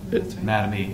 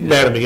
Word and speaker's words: Mattamy: I think if you go through, this pertains back to, is it Mattamy? Is that? Mattamy. Mattamy, okay.